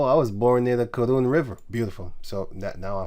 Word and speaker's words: Karun: It's spelled karun there. Here the here. Here it says going over what is called the karun. He says karun. Karon. He says, but it's actually karun.